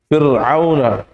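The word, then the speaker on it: فرعون: Fir'auna. Ayo. Fir'auna. Rohnya sukun. Sebelumnya kasroh. Nah itu diganti tuh contohnya ya. Diganti coret. Fir'auna. Ya, makanya Fir'aun di situ rohnya sukun. Sebelumnya kasroh.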